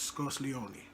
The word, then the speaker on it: Scuzleoni: number four focuses on Annabelle discuss knowledge pronounced scarcely only and so you know I made the name up but that's how it's pronounced so that's now